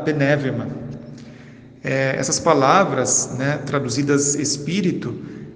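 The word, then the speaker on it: πνεῦμα: Ao escreverem a respeito do espírito, os escritores bíblicos usaram a palavra hebraica ruá ou a palavra grega pneuma, pronunciada penevema.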